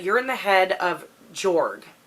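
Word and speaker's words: Jorg: in the head of Joerg it's it's spelled J o RG but I've heard people say that it's pronounced George but he's a prince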